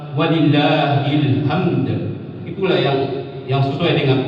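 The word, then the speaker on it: وَلِلّٰهِ الْحَمْد: Walillahilhamd. Kalau walillahilham artinya dan bagi Allah adalah ilham. Ilham itu artinya inspirasi. Gak mungkin Allah diberikan inspirasi yang sebenarnya adalah walillahilhamd.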